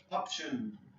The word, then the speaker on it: option: W gigantic obscure obscure option option be careful the T sound option premature premature preserve